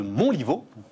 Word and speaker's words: Montlivault: On repart les amis, on repart avec Olivier de Montlivaud. Bonjour Stéphane. Je le prononce bien, Olivier, ça va?